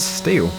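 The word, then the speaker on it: Stihl: To be honest, I've always called them still as well, but I'm told that the official pronunciation is steel.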